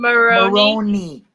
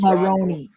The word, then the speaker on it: Maroney: How do you pronounce his last name? Sean Maroney. Oh, okay. Like I was gonna macaroni. Say, it's Maroney.